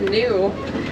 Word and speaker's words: gnu: also have another name also known as New now that's spelled gnu actually get that name